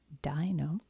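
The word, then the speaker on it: Deino: How to say it? Dino.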